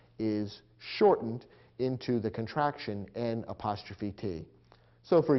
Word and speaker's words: n't: And in between, we have the adverb not, which has been contracted to N''T, pronounced int.